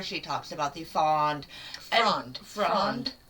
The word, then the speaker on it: Fronde: Fronde. Yeah. Oh, I forgot the R in it. Yep. That's why I was saying it wrong.